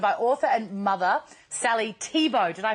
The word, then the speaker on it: Thibault: Whew, it's Autism Awareness Month, and we're joined by author and mother Sally Thibault. Did I pronounce that correctly?